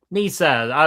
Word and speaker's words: Nissa: Uh, and your name is Nissa. Is that am I pronouncing that right? Nissa. Nissa.